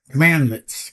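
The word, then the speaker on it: cmdlet: Commandlets. Commands pronounced commandlets. Okay. C M A N and D lets uh are building PowerShell commands examples.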